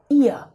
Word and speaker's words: ihr: online first of all the pronunciation of ihr is here it sounds like my ear not my nose needs a little bit